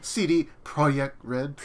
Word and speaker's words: CD Projekt Red: cd projekt project red it's pronounced cd projekt red uh but they uh